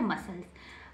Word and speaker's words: muscles: मसल्स, क्या बन गया, मसल्स। MUSCSC, सी से तुरंत पहले क्या है, एस, सी से तुरंत पहले क्या है, एस, तो हम क्या नहीं पढ़ेंगे, सी को नहीं पढ़ेंगे, सी को नहीं पढ़ेंगे, मसल्स, क्या बन गया, मसल्स।